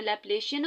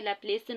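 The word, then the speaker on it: Laplacian: ठीक है, आप कुछ जो है प्रोनाउंस ऐसे करते हैं लैप्लेशियन ऑपरेटर, लेकिन जो प्रोनाउंसिएशन है वो ये है कि लैप्लेसियन ऑपरेटर इसे कहा जाएगा।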